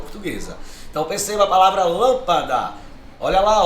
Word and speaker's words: lâmpada: Se eu separo a palavra lâmpada, ó, lâmpada. Não é a última, não é oxítona. Não é a penúltima, não é paroxítona. Ela é, ó, a antepenúltima. É a sílaba mais forte.